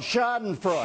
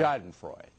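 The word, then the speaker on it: Schadenfreude: how do you say that German it's called shoden Freud Shaden Freud the Germans concocted it it's one's vague pleasure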